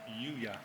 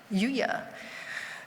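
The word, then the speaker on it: Lliuya: Nigel, can you pronounce his name for me? Yuya. Yuya.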